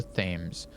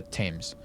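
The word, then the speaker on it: Thames: We are close to the themes or tames. No wonder flooding is at such is such a risk. The river temps. Tames is spelled t h a m- s, right?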